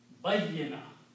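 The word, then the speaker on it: بيّنة: Bayyana. Okay? Bayya. You have to pronounce ya 2 times. Bayyana.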